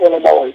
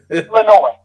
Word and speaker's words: Illinois: It's not Illinois. It's Illinois. Right? No, it's not. No, the S is silent, man. Illinois.